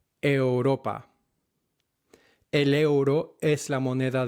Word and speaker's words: Europa: Euro, Europa, are not pronounced euro or Europa, but euro, Europa.